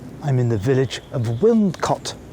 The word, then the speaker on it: Wilmcote: in the village of wilmcot that's with an N but it's spelled with an M very confusing I know wouldn't caught it looks like it's